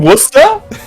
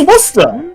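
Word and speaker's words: Worcester: a place you mean wora you mean sure that's the worst way to pronounce that he say it's Worster it's wer s that's not remotely how that's written that's how you say it oo this is interesting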